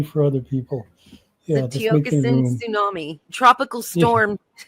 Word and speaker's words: Tiokasin: Yeah, Tiokasin, it's Tiokasin. So it sounds phonetically Tiokasin. Some people say Tiokasin, whatever they say, but it is Tiokasin at Gmail.